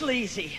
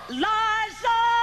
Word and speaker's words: Liza: Liza Minnelli, it's easy, C, it's Leezy. Not sleazy. No, no, it's Liza.